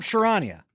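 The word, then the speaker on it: Charania: Sham Shirania.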